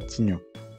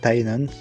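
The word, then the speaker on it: Tygnon: Ils sont inspirés de Mike Tyson pour Tignon, et d'ailleurs ça se prononce Tynon, c'est pour ça que ça fait référence à Mike Tyson, et Bruce Lee pour Kikli.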